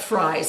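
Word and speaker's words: Frei's: So these are the three things that we got at Fry's, and Fry is spelled F-R-E-I.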